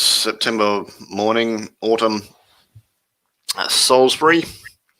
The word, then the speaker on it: Salisbury: So, yeah, it's September morning, autumn, Salisbury. Am I even pronouncing that right? Salisbury, yeah. Yeah. Because it's different spelling to the Peter Gabriel song Salisbury Hill, but I'm like, is it said the same?